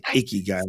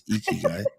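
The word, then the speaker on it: ikigai: always getting it wrong no you actually said it right when people say iy guy want to punch him in the face it's eeky guy I have done probably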